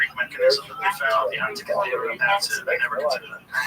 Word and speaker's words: Antikythera: The thing you get to, how do you say that ancient Greek symbol, the ancient Greek mechanism that they found, the antikythera, that's it.